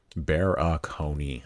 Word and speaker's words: Barakony: Bear a four syllables phonetic. Bear aoney.